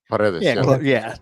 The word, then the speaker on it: Paredes: Is it Paredes? Is that how you say it? Paredes.